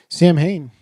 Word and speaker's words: Samhain: Sam Hain, which is the ancient Celtic festival of the dead from which modern day Halloween is derived. Yes. So it's actually pronounced Samhain.